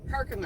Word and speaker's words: Herkimer: Herkimer.